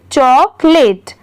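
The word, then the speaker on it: chocolate: भी याद हो जाएगी सी एच ओ चो सी ओ को और एल ए टी ई लेट तो पूरा मिला के चॉकलेट आगे देखते हैं केक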